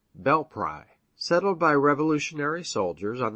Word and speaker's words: Belpre: in ohio is belpre short for belle prairie and now locally pronounced bell pry settled by revolutionary soldiers